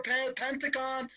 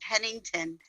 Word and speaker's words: Pennington: Oh, it's Pennington. That's only. Yes. That's not far from the town that I live at. Oh, Pennington. You have to understand. Looks like it's spelled as Pentagon. Nope, this is Pennington.